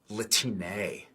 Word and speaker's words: Latine: But we actually pronounce it Latine.